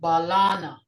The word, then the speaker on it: Balana: Balana. Balana. Banana. Balana. Balana. Sounds like the English version, but a little twist with Mvskoke.